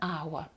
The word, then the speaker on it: hour: починається слово in an hour I will meet you через годину я з вами побачуся через годину in an hour у слові а буква H не виговорюється в нас є голосний